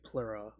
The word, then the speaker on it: Plura: owner of plura farms it's spelled p l r a plura plur Farms like plural fluid oh okay yeah I